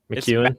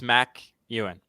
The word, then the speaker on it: McEwen: McEwen. It's Mac Ewan. But it's spelled Mac. But it's McEwen.